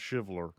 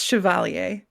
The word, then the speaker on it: CHVLR: CHVLR, which you said is a French word that is not pronounced chivalry. No, it's chevalier.